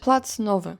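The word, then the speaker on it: Plac Nowy: place than plaque noi how do you pronounce that plat NOA and it's also located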